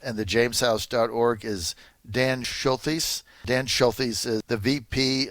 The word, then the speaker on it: Schultheis: Schultheis, yes, sir, absolutely. Dan Schultheis.